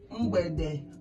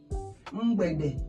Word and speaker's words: Mgbede: M g b e d e. Mgbede. I always tell you that those digraphs comes in twos. They are one word. They are pronounced as one word.